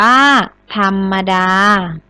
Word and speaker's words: ธรรมดา: มา ทำ อะไร คะ ธรรมดา อ่าน ว่า ธรรมดา หัว ข้อ ที่ 5